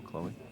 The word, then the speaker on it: Chloe: even even my friend slip into making it one syllable like hey Chloe Chloe yeah like that two